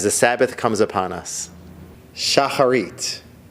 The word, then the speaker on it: Shacharit: Shacharit, also pronounced Shacharis, the daily morning prayers.